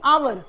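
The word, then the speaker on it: hour: क्या लगाएंगे ए लगाएंगे लेकिन आप देख लो कि यहां पे एच जो है साइलेंट है और सेकंड लेटर का साउंड क्या है ओ यानी आवर अ साउंड आ रहा है तो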